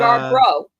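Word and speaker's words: Yarbrough: Uh, Yar Bro.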